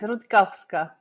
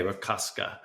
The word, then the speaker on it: Rutkowska: Today, I'm very excited to be speaking with Alinka Rutkowska. I knew I pronounced that wrong. How do you say it again? It's right. It's all right. Rutkowska. Yeah. Okay. Rutkowska.